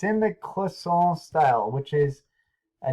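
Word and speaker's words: cloisonné: It's called Clisson. It's the same thing happening here. It's spelled Cloisonne.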